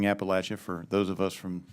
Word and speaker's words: Appalachia: I would suggest when you, and you appreciated you both pronouncing Appalachia, for those of us from Central Appalachia, correctly, and for recognizing there are some things we can do in Appalachia.